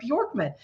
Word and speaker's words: Bjorkman: And thank you for pronouncing my name correctly, Bjorkman. So if you remember, and my ideal clients they remember this. Bjork, the Icelandic singer that wore the feather tutu.